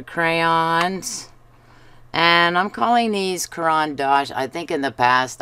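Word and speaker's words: Caran d'Ache: Almost everybody says Caran D’Ache. All the YouTube artists I've watched say that.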